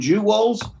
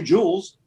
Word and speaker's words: jewels: But you can say jewels. Jewels. And it's one syllable.